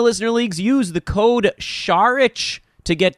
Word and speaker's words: Saric: How about Sharich? Sharich, there you go. And it's spelled not at all like how it sounds.